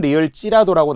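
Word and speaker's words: -ㄹ지라도: 자, 예를 들어 우리 바로 리을지라도라고 어미로 외우면서 발음은 리을 찌라도라고 놨다는 거예요.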